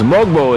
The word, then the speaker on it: Mogbo: So it's Mogbo is how his name is pronounced.